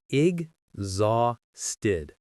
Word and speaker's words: exhausted: It has three syllables. Listen. ig zasted. The stress, the most powerful part of the word is on the second syllable, zah. Let's break it down. The first part is ig. Not x, but ig. The second part is the strongest. Zah. Zah. It has that same z sound from goes.